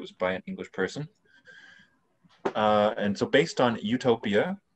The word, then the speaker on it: eu: this eu spelled one because english speakers pronounce this u the same as the u in utopia peculiarity of english that